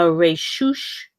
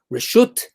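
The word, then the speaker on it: רשות: 4 amos in a Reshush Harabim. Reshut, in our modern Israeli pronunciation, Reshut Harabim.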